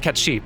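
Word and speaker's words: Cait Sith: supposed to be pronounced cat sheep by the way or something similar again gaelic scottish gaelic the rule for scottish gaelic is just assume it's not pronounced how it looks and good luck beyond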